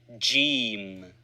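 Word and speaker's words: جيم: Jim. Pronounced usually like G in good.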